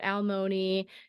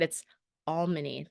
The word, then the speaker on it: Almany: And by the way, it is pronounced Almany, not Almoni or alimony or anything like that. It's Almany. That's why my Twitter handle is the way it is.